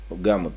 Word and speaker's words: Gamut: Гаммот, по-моему, да, правильно произносится, гаммот.